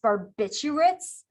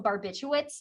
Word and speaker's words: barbiturates: to try really hard not to mispronounce barbiturates barbiturates because i want to call them barbiturates and that is not correct so we have alcohol